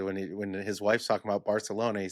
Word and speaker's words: Barcelona: Show me a Spaniard or somebody in Barcelona who says it like Americans say it when they're trying to say it with the lisp. I've never heard a single person say it like that.